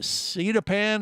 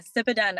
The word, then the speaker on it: Sipadan: out in Bali, and what is it, Sidapan, or how do you say it there, Rachel? Yeah, Sipadan Island. Sipadan, right?